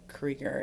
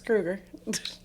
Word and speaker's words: Krueger: Some people pronounce it Krieger if you're from Wisconsin. Really? Is that a thing? Mm-hmm. Okay. There's other Krugers, and they're like, it's actually Krieger. I said, no, it's Krueger.